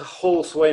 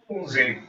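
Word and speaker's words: Halsway: How often does Paul get to Horseway Manor in Somerset? I had to correct you there, David. It's pronounced Halsey.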